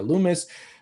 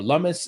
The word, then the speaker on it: Lummis: I named the respective congressmen and even congresswomen, Senator Cynthia Lummis, or Lummis, if you want, I think her name is pronounced.